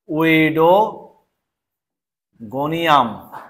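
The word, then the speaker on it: Oedogonium: পা কলার পা জালের মতন জালিকাকার এটা হচ্ছে উইডো গনিয়াম জালের মতন হচ্ছে স্পেলিংটা একটু দেখো উচ্চারণটা একটু দেখাও ও ই ডি ও উইডোগোনিয়াম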